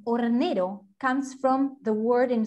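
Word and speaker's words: hornero: bird maybe you know in spanish we write the h but we don't pronounce it so ornero this is our national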